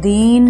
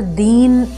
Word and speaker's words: दिन: अब यहाँ पर दीन देखें, ये गलत है, जबकि इसका शुद्ध उच्चारण है वह 4 दिन में आया। तो हस् स्वर है तो हस् स्वर में मात्रा छोटी, उच्चारण भी उसका उसी तरह से होगा।